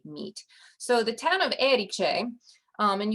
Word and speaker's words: Erice: so the town of eriche um and you put the accent on that first syllable eriche is named for eriks